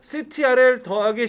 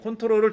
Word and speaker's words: CTRL: 저거를 CTRL 더하기 C라고 읽으면 초보자야. 컨트롤이라고 읽어요. 컨트롤. 예, 컨트롤을 줄여서 그렇게 써놓은 거예요.